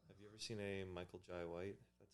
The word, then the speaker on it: Michael Jai White: Have you ever seen a Michael Jai White? That's how you pronounce his name.